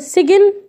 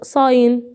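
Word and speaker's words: sign: اقول سجن. لا صاين علامه او رمز. وتعالى بقى ندرس الحاله هنا. قالك ايه هنا؟ ده ايه؟ جي. ليه ما عطاتش الجي قلت الصاين ما قلتش سجن؟ عشان الجي قبلها اي وبعد الجي ان.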